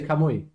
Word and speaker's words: Kamui: I was gonna say, but that is how you say Kamui.